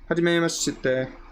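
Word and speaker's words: はじめまして: almost like pronouncing it, they almost leave off the I in there in terms of Romanji. So it's kind of like Hajime ma shite, kind of shite, like the I isn't really there even though it's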